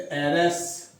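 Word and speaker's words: heiress: Giant, ESS, जायंटेस, इसमें H silent है, एयर पर है, तो एरस।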